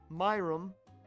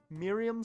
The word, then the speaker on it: Miriam: I don't know why I pronounced it Myumm because that makes no sense.